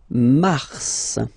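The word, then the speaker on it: mars: Okay then Mar okay so in a way it's an exception because normally final s is not pronounced in French okay we've got some exception and this one is one of them so Mar pronounce the final s mar mar okay then ail ail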